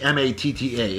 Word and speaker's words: Matta: And yes, his last name does not end in an R. It's actually M-A-T-T-A.